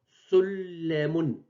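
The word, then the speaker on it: سُلَّمٌ: J'ai prononcé deux fois la lettre les en rouge. Donc, à gauche, c'est l'orthographe correcte, sullamun. À droite, c'est la prononciation correcte, en doublant la lettre les, sullamun.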